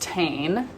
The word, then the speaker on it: TIJN: on accident that is allegedly pronounced tane like t-a-i-n anyway this company um